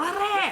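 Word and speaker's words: 黙れ: If you're gonna tell him to shut up, roll your R's. There are the 11 words. Damare.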